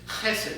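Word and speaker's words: חסד: And the Hebrew word it's kind of hard to pronounce, but it's chesed. You have to get kind of that funny sound in the back of your throat.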